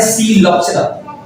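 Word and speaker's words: Psilopsida: P silent है और इसे कहा जाता है सीलोप्सिरा।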